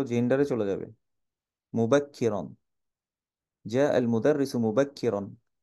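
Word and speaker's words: مبكرا: রুন এবার বুঝতে পেরেছি মুবাক্কিরন মুবাক্কিরন মানে হচ্ছে কাফের নিচে হচ্ছে কাসরা এই যে তাসদিদের নিচে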